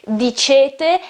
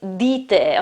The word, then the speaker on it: dite: Okay, the second person plural, it's not dicete, as many foreign people say. It's wrong, it is dite, okay?